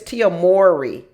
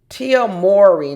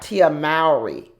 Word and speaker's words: Mowry: no you know what I've been pronouncing her name wrong y'all I think it's Tia Mori Tia Mory not Tia Mari um just like Mo m o Mo the lawn Mory so we're here to